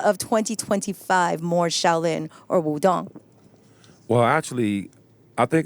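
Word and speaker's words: Wudang: And then we went to Wu-Tang Mountain, or Wudong Mountain, pronounced Wu-Tang by the British.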